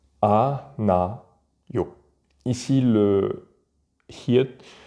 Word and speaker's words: 않아요: A, na, yo. Ici, le hiet, le H expiré ne se prononce pas.